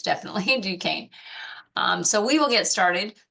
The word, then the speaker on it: Duquesne: That's kind of a joke, but it's definitely Duquesne.